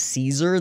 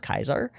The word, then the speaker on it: Caesar: are if somebody um if somebody says like a soft c so if somebody says caesar they're wrong it's kaiser or or similar like